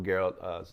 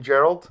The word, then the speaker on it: Geralt: way of presenting sort of Geralt's, and it's Geralt, right? I don't want to mispronounce it. You mean Gerald?